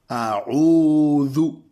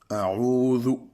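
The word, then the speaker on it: أعوذ: Après, nous avons le zou. Zou, c'est zozoté. On doit sortir le zel de la langue. C'est une lettre qui s'appelle le zel en arabe. Zou. A'oudhu. Voilà. A'oudhu.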